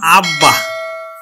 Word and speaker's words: আব্বা: সাথে ব যুক্ত থাকে ব ফলার সাথে যদি ব যুক্ত থাকে তাহলে ব ফলার উচ্চারণ হবে যেমন আমি লিখলাম আব্বা আব্বা তাহলে দেখো ব